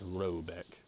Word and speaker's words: Raback: The manor house, or herrgård, in question is to be called Raback, pronounced something like Robeck, although that is not its name.